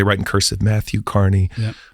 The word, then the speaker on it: Kearney: spell it Kerney with it's Carney but it's spelled like Kerney and uh yeah one